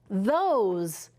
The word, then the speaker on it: those: Now I have O, consonant E. What is that going to say? Right. It's going to say the O sound. Let's read it. The O's, those.